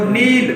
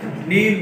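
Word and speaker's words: kneel: तो नील, घुटनों के बल झुकना, KN से शुरू होता है, नील घुटनों के बल झुकना।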